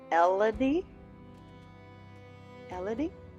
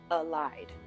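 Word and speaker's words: Elide: wrong the entire time I was saying it el el but evidently it's Al li like alive but with a D alive and it's it's really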